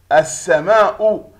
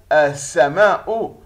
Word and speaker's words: السماء: هي اللام التي تكتب ولا تلفظ أثناء القراءة، ويأتي الحرف الذي يليها مشددا.